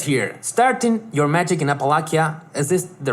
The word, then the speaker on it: Appalachia: starting your magic in apalachia is this the right way to pronounce this yeah yeah that's that's close Okay how do you say it Appalachia is the English pronunciation okay starting your magic